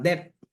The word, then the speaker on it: debt: Yan, yung debt. Di ba? Parang debt. Di ba? Debt. Parang ano may sound familiar, no? Debt. Parang gano'n natin yung pronunciation niya. Debt.